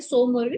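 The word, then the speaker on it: Tso Moriri: मोरीरी lake ठीक है सो मोरीरी टीस साइलेंट रहता है ये चांदन प्लाटू लेह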